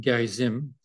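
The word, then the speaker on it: Gerizim: that uh the Samaritans who live on Mount Gary Zim as it's pronounced uh had a second temple there and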